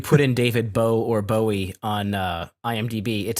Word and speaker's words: Bowie: put into it for his is actually pronounced Bowie. Bowie.